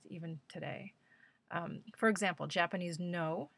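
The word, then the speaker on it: Noh: doesn't matter who we are but that's definitely not true in the east even today for example japanese no it's pronounced no drama is precisely performed and ceremonial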